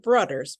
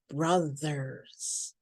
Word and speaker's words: brothers: Okay, brothers, not brothers, but brothers. Brothers. Okay, so it's not a D sound, it's a th.